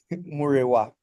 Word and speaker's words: Murewa: If you want to pronounce an accent, it's Murewa. But just Murewa. as long as you pronounce all the vowels, you're good.